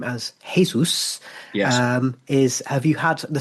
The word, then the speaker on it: Jesus: ups at Forest, who advised me it was Jesus, because I didn't know whether it was Jesus, Jesus, but I was told Jesus, Igor Jesus.